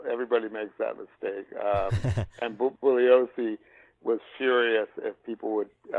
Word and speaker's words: Bugliosi: And Bugliosi was furious if people would use the hard G, if they called him Bugliosi, or everybody mispronounces his name, but it's a soft G.